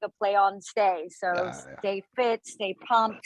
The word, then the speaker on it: Stay: Stay. It's my nickname, right? People call me Stay instead of Stacy. Yeah. So my brands are they're fun. Everything's like a play on stay.